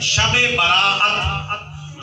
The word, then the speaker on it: شب برات: گیا ہے شب برات۔ بعض بھائی کہہ دیتے ہیں شبرات، شبرات کا تلفظ غلط ہے، شب برات۔ شب کا معنی ہوتا